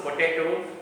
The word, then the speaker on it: potato: For example, when we pronounce potato, the middle syllable is stress.